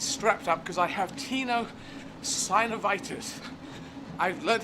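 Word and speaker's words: tenosynovitis: right foot is strapped up because I have Tino synovitis I've learned how to say it I'm not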